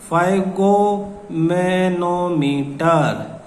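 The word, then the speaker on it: sphygmomanometer: तो blood pressure is measured with an instrument called the फाइगोमेनोमीटर। S silent है, फाइगोमेनोमीटर नाम याद कर लो।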